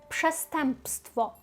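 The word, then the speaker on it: przestępstwo: Так, тут складність, тому що маємо пше. Ну, ми в принципі для нас не дуже складність, бо ми пше-пше знаємо так про польську, але пше стемп стемп. Оце оці носувки так мучать вас. Пшестемпство. А далі ще купа приголосних підряд.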